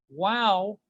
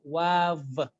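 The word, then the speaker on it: واو: Wow is not wav. Usually people pronounce it as wav. They either join their lips or they join their like upper teeth to the lower lips.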